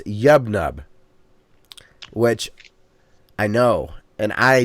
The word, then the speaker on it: Yub Nub: In Ewoks, it's not Yub Yub, it's Yub Nub.